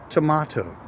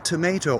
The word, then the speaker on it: tomato: Tomato. It doesn't matter if you pronounce tomato or tomato. Nobody ever in any part pronounces the O in tomato.